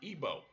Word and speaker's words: Igbo: Nigeria that being i-g be old but it's pronounced ebo I've also seen it spelled IBO eb o and EB OS but it's all the same people now in Georgia st.